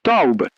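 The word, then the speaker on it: טוב: final del Salmo 23, pero pronunciada en hebreo tiene un poder multiplicador que en español se pierde completamente. La palabra es Taub, que David usó cuando escribió «Ciertamente el bien me seguirá». Pero Taube no significa simplemente bien,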